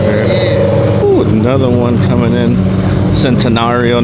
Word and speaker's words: Centenario: another one coming in centenario now that I know how to say it because I was saying citizenship Mario uh because you know